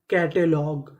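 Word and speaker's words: catalogue: कैटलॉग कैटलॉग कैटलॉग का मतलब होता है सूची तो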